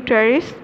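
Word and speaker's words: Pteris: ट्रेरिस, P silent है यहाँ पे, एडियंटम, मार्सिलिया एंड ड्रायोपिटेरिस. अब हम बढ़ते हैं जी टेरिडोफाइट की कॉमन एग्जांपल जिसे टेरिस कहते हैं.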